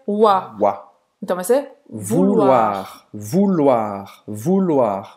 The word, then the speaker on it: vouloir: Então, ou em francês, a gente vai pronunciar U, como a letra U em português.